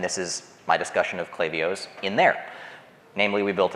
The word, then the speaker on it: Klaviyo: native folks but specifically to Addison because he pronounced the company's name right it is clavio not clavio sorry happens every time talk about a few